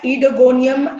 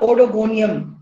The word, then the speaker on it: Oedogonium: and genus is etygonium it's called as edogonium and not odogonium o is silent so it's ido gonium understandable we will pronounce it as edogonium don't make mistakes now